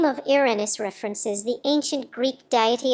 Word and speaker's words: Uranus: The pronunciation of the name Uranus preferred among astronomers is Journes Uranus, with stress on the first syllable as in Latin Ranus, in contrast to Drens Uranus, with stress on the second syllable and a long A, though both are considered acceptable.